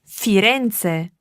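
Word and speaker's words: Firenze: what it is in italiano firends we say fiance fiance or Florence is in the Toscana region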